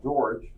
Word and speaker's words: Georg: his name was Georg it looks like George but I think they pronounce it Georg Oh who came along